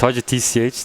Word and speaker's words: HaCyTch: Yeah, it's like the pronunciation is so weird, but like it's HaCyTch. That's HACYTCH. HACYTCH.